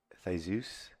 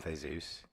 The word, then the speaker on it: Theseus: I think the one that I think is pronounced Theseus, Like Jesus, like but Huevos. it's Theseus.